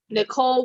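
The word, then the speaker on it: Nichole: Nicole with an H. The H is silent.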